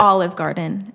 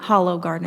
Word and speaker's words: Hollow Garden: Where'd Or that- Olive Garden, as some people want to say. But it's, how do you say it? Hollow Garden.